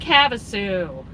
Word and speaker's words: Havasu: I don't know how to pronounce it. Lake Havasu.